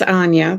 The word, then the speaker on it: Anja: everyone i am uh my name is anya that's usually how it's how it's pronounced let me just give